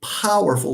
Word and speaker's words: powerful: For example, we say powerful. Look at the way I say ow, the diphthong ow, powerful.